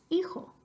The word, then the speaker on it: hijo: Phonetically speaking, I-X-O says hijo.